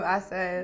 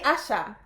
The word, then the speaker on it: Asa: because you i mean you've said his name wrong oh really asha no asa no tell me what is it isaac okay it's a lesson it's the way it's spelt i just went right